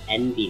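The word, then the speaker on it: enby: Why is Envy the name for non-binary? Because it's the, it's basically the vocalization pronunciation of the letters N and B.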